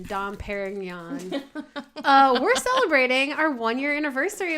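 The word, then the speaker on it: Dom Pérignon: celebrating how do you how do you like that for good French pronunciation Dom Perignon we're celebrating our one-year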